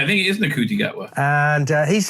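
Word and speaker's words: Ncuti Gatwa: I think it is Nakuti Gatwa.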